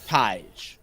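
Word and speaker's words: Tadhg: umor the 2010 Ty pronounce Tai he played in the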